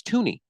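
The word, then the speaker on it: Thuney: it's FY no it's Tony I don't care what you think I'm telling you it's tun there's an H I'm pronouncing it but the H is silent A Silent Assassin okay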